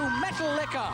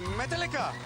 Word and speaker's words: Metallica: Clap your hands and jig about to Metal Liquor. But I have to I have to correct you there. The actual pronunciation is Metallica.